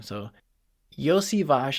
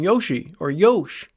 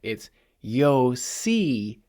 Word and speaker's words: Iosivas: So he just calls him Yoshi or Yosh, which is not the correct pronunciation. There's no Yosh sound in there. It's Iosivas.